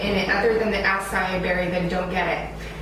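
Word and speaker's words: açaí: Then I'm sure you've heard of acai berries, that some people call ackee berries because it's spelled A-C-A-I.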